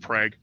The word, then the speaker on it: Prague: of Prague Prague it's spelt Prague but it's pronounced Prague damn acronyms yep yep see you there telling